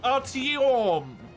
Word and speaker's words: Artyom: It's Artyom. That's the important bit, Mace. They have to pronounce it correctly. Correct, yeah, you got it. They gotta put a little bit too much emphasis on the O's.